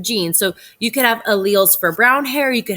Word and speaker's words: allele: determines what our genes are so let's talk alleles so this is some more vocabulary that is a little tricky so this word right here is pronounced allele allele it's like uh i think of ali